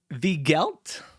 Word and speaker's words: Weigelt: So the people that didn't like it included a guy named, and I haven't written down, Enrico Weigelt, I believe is how you would pronounce that. It's spelled Weigelt.